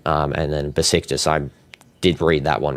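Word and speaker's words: Beşiktaş: It's Besiktas.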